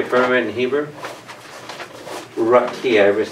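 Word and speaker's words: רקיע: Rakia, everybody say Rakia.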